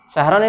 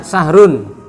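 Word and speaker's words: شَهْرًا: Syahron ini apa? Ya, apa dalam posisi i'rabnya? Ya, kenapa dia kok dibacanya Syahron tidak Sahrun?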